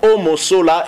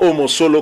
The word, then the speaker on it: Omosola: Le nom du gardien de l'ASV Club, c'est bien Simon Omosola et non Omosolo, comme a eu à le répéter hein, François-Claude Kaboulo, une erreur certainement de sa part, puisqu'il avait aussi bien prononcé ce nom, Omosola.